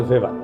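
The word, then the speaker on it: Weber: আরেকজন দার্শনিক আছে ম্যাক্স ভেভার এটা ওয়েভার বলে অনেকে এ উচ্চারণ আসলে ভেভার তার একটা লেজিটিমেসি এবং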